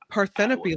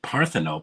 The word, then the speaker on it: Parthenope: mean parano what is that well I mean paropy like a maybe a Greek goddess or God or something actually they pronounce it parthenope and she said it's actually it's it turns